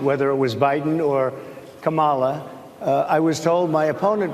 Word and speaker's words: Kamala: So the way you tend to pronounce it is Kamala Harris, like Kamala Harris. So it's Kamala Harris, right?